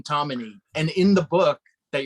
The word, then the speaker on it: Tomine: We're going to start off with Adrian Tomine's "The Loneliness of the Long Distance Cartoonist," which I just read on Andy's recommendation because he knows Adrian Tomine.